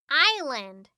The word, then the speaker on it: island: say fridge iceland nope the s is silent so we say island okay last one chuck